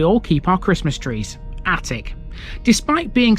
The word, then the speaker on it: Atwick: keep our Christmas trees attic despite being spelled at Wick it's pronounced in exactly the same way as the room in your house it's a Coastal Village